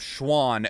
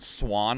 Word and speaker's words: Schwahn: a lot instead of Schwann I get Swan a lot and I'm like you know what fine like Schwann is literally just German for Swan there you you said